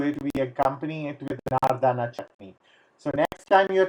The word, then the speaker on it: Nardana: is with Nardana chutney, which is Nardana chutney, but we pronounce it Nardana chutney, which is a dried pomegranate, and it is very tangy.